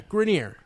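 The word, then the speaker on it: Grenier: this just because of just pronounced his name as if it was like the real French pronunciation that's how he pronounces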